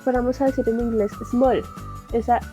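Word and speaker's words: 스물: Su forma larga es t-mul. T, digamos que esta U no se pronuncia, por decirlo así, de forma abierta, sino que es una U entre los dientes, por eso le pongo acá arriba este palito. S, T, mul. Small. Como si nosotros fuéramos a decir en inglés small.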